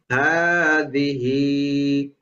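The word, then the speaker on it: هذه: যে এখানে এটা একটু খেয়াল করতে হবে, ভালো করে খেয়াল করতে হবে, কারণ মানে সামনের পিছনের দুইটাই উচ্চারণ লম্বা, মাঝখানেরটা তাড়াতাড়ি, এই জন্য একটু খেয়াল রাখতে হবে যেন মাঝখানেরটা লম্বা না হয়ে যায়।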